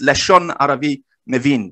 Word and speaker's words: Leshon Arabi Mevin: This is Leshon Arabi Mevin. This is how we say it in our pronunciation, which is different from Leshon Arabi, which is not Mevin. For us, it's Leshon Arabi, the language of Arabic, is not intelligible for Jews, for Judeo-Arabic speakers.